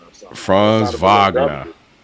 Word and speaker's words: Wagner: And they pronounce his name Franz Wagner. I forgot how the hell he said Wagner or something. Franz Wagner.